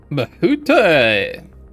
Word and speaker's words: Hhusatahwi: Okay, the W is silent. Thanks for telling me that. Bahute!